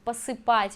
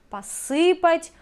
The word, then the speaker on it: посыпать: Again, the same writing, different pronunciation. Посыпать imperfective, посыпать perfective.